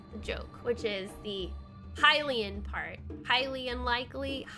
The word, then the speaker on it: Hylian: joke, which is the Hylian part. Highly unlikely, highly unlikely, H-I-G-H-L-Y space likely, but then it's spelled H-Y-L-I-A-N, Hylian, because he's a high.